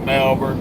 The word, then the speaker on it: Malvern: They call it Melbourne, but it's spelled Malvern.